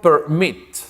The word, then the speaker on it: permit: Por ejemplo, el verbo permit, ¿okay? Permit, permitir. Tiene 2 sílabas, permit, ¿te das cuenta?